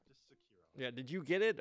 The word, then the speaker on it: Sekiro: How do you pronounce this thing? Sekiro. Sekiro. Just Sekiro.